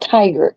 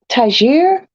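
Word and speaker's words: Tigre: that is not tiger it's tagir come on my French my French lovelies has a princess in PMS okay it's spelled t-i-g-r-e not that I will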